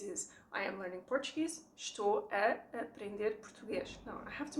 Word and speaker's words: estou a aprender: What we do is estou a aprender português, estou a aprender português. We combine the A's, we make it a very open and slightly longer A, okay?